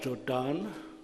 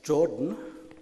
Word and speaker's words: Jordan: in South Africa of always having to correct people about pronunciation of my last name, which is not Jordan, but Jordan. And I have begun to take exception to being called Jordan because, I don't know,